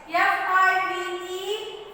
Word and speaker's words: five: But here the E is silent. The E is what here? Silent. Five. Five. Yes? Five. Five. That is different. That is wrong method.